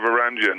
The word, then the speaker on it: Varangian: Yeah, Varangian, yeah, that's right.